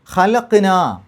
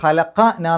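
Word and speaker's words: خَلَقْنَا: ഖലഖ്ന ഖലഖ എന്ന് പറഞ്ഞാൽ സൃഷ്ടിച്ചു, നാം സൃഷ്ടിച്ചു എന്ന് പറയണമെന്നുണ്ടെങ്കിൽ ആ ഖലഖയുടെ കൂടെ അവസാനത്തിലൊരു നാ എന്ന് ചേർക്കണം. അപ്പോൾ ഖലഖ നാ എന്നല്ല പറയാം, ഖലഖ്ന എന്നാ പറയാം. അവസാനത്തിൽ ജസ്മ് കൊടുക്കും, സുക്കൂൻ കൊടുക്കും. ഖലഖ്ന നാം സൃഷ്ടിച്ചു.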